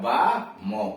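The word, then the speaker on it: balm: ए आया हुआ है, इसीलिए इसका आ, बो पर आ का मतलब बा, मो, बाम, या इसमें साइलेंट होता है, मतलब मरहम।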